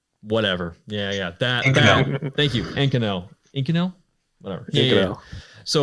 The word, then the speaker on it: Inconel: It's the popular material that a lot of people use is I'm going to butcher the name, Inconel. Thank you. Whatever. Yeah. That. Thank you. Inconel.